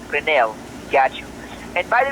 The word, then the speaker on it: Grinnell: All right, so it's pronounced like Renell, right, sir? Like Robert Renell.